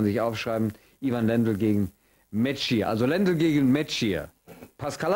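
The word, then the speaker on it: Mečíř: das sollte man sich aufschreiben, Ivan Lendl gegen Metschier. Also Lendl gegen Metschier. Pascal hat gesagt, so wird es ausgesprochen.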